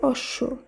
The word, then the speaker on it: অশ্ব: অশ্ব শব্দটি শুদ্ধ উচ্চারণ অশ্ব।